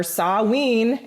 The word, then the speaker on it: Samhain: people well it's halloween it's samhain or sawween if that's the way you like to pronounce it and basically this is